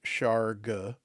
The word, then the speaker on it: Shargugh: Shara, pronounced, thankfully we have a pronunciation guide and I'm doing it correctly. Chara are small hairy humanoids about 3 feet tall.